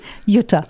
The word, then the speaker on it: Jutta: Did I pronounce it correctly? Sort of. Jutta. Jutta. Yes.